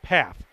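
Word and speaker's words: Pfaff: folks uh totally unintentional I think I said faff and it's path it's spelled p f a f f so I guess I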